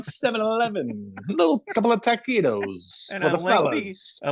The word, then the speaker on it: taquitos: You go on at great lengths about the taquitos. Taquitos? Am I pronouncing it right? Yeah, taquitos. Taquitos at 7-Eleven.